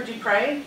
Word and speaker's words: Dupré: my name is d Pryde I am running for da it's easy to remember it rhymes do pray for da so remember that